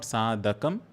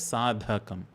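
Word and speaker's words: sādhakam: This second part of first line make sure you're pronouncing that dha as a mahabana sound. It is not sadakum. It is sadhakam dha. Saddi sadhakam the first d the is alprana less air and at the end the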